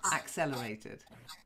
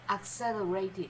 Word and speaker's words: accelerated: accelerated not x a a Accel like apple accelerated think accelerated yeah to accelerate good any questions only the